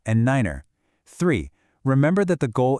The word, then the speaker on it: niner: Two, use the special pronunciations tree, f, and niner.